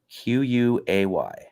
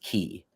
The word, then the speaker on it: quay: I got laid off from Audible for the word QUAY. How do you pronounce that word? Quay. And that's what the guy said like 300 times, and it's pronounced key.